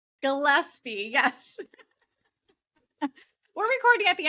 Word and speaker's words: Gillespie: It's Gillespie. Gillespie, yes.